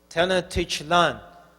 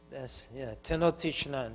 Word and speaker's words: Tenochtitlan: When Cortez went to what will become Mexico City, I'm tired, so I can't pronounce it right. Talacha, who knows Mexico? Talachalan, Tenochtitlan. Tenochtitlan.